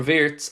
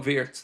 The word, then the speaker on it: Wirtz: uh really surprised if Liverpool do a swap deal for Vitz. And by the way, we have to start calling them verts now because that's apparently how it's pronounced.